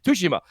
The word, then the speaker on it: Tsushima: Tsushima. Shout out to Creative Kofi who corrected everybody on Crossfire on how to say it properly. So I'm trying to say it properly.